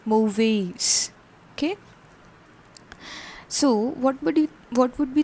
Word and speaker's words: mauvaise: For femina it becomes mauvaise, an extra e is added and the pronunciation becomes mauvaise.